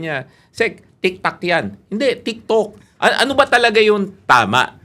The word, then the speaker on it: TikTok: Hindi tiktok ano ba talaga 'yung tama na ano sabi ko saung tiktok 'yung ano 'yan 'yung mint 'yan eh.